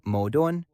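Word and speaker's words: 矛盾: The Chinese word for contradiction, pronounced something like modon, is composed of the characters spear and shield.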